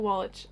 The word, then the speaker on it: Wallach: Looked Up by Tommy Wallach. Is it Wallach or Wallach? I'm pretty sure it's Wallach, but I pronounced it Wallach when I first got this book, so whoops.